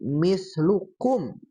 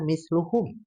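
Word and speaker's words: مثلكم: Tadi mislukum. Nah, itu harusnya kaf. Nah, tadi asal dibaca misluhum ya.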